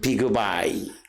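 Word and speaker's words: בגוי: 이 비그웨로 기록되어 있지만 시브리어 원문의 발음은 비그바이, 그리고 뜻은 내 몸속에라고 하는 그런 의미를 가지고 있고, 그 다음에 20절에 아딘 자손이 655명이다 이렇게 기록되어 있습니다.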